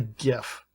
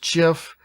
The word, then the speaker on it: GIF: see most commonly used the first is the GIF and it's technically pronounced Jif no one pronounces it like that though so